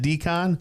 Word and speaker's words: DKON: Is it Decon? That is correct.